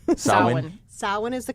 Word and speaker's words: Samhain: Sam, which we're mispronouncing apparently. First of all, it's a mispronunciation, and second of all, he wasn't a god. It's a holiday. Right. It's Okay. Samhain. Samhain. Samhain is the correct pronunciation, and it's this season.